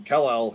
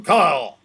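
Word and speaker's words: Kal-El: out uh as he calls him kale he just calls him instead of calling kellel he just calls him Kyle Cal you know it just just Rams it all into one syllable right Kyle I will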